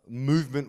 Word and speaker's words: MVMT: It's spelled MVMT, but pronounced Movement.